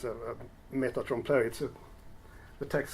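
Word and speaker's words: trompe-l'œil: How do you pronounce it? Trompeloeil. Trompeloeil.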